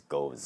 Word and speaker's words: Gose: people call it goes some people call it goes a as a Spanish version but if you search the internet the proper pronunciation apparently is goes oh it's a german word which kind of makes